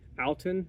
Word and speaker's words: Outin: our espresso machine though it's called Alton I think is how you pronounce it it's just spelled like out in um pretty simple they